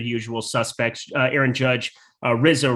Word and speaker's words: Rizzo: suspects uh aaron judge rizzo rhymes with lizzo a new man on